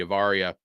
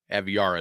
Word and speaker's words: Aviara: the Cruisers and the avaria Aviara Aviara is how you say that um I always say